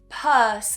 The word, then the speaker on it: purse: They will see that u in the spelling and they will read it as p. So they will change that u to an u as it's how you would read it in Spanish. Okay? It's logic. It makes sense. But English is not phonetic. Doesn't work the same way. So purse is how we would pronounce it.